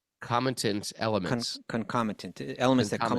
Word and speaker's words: concomitant: and peace as its own how do you pronounce this word? Concomitant. Concomitant elements.